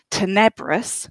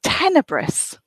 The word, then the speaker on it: tenebrous: to pronounce it it's I thought that it was Tana Burris which probably comes from the fact that I can speak some Portuguese and that's how I would expect it to be pronounced in Portuguese but in fact apparently it's tenebrous so can we really say